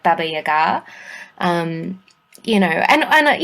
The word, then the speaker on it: Baba Yaga: but they're powerful so you get people like Baba Yaga um you know and and yeah I I oh well you actually you actually pronounce it correctly yes people tend to say bab Yaga especially here in Australia but I do know